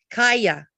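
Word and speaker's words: Kaja: person's name was um Kaya and it was k-a-j a and then I S because there were subtitles I was I go every time they had a j it was pronounced as a y so I thought that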